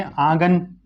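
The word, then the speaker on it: आँगन: स्वर ये है ना, ये चंद्र बिंदु सिर्फ इस बात को दिखाएगा कि आपने आ का उच्चारण हल्का सा नाक से करना है, आंगन।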